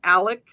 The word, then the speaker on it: Alex: He pronounces his name Alec, and it's like, but you didn't. It's not spelled that way. It's spelled with an X.